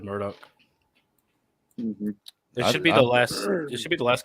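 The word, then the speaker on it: Murdaugh: Murdoch murders and it's it's spelled murder but everybody on that um on the the documentary was referring to him as Murdoch I don't want to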